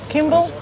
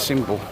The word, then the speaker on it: Symbol: Kimball? It's Symbol. Symbol? Symbol. How do you know? Plus I've heard it pronounced on Google.